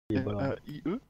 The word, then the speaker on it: Mai: M-A-I-E? Oui. Non, M-A-I. Si tu veux. Je sais pas. Moi je dis Mai, mais parce que je trouve ça plus rigolo. Mais ça s'écrit comme le mois de mai.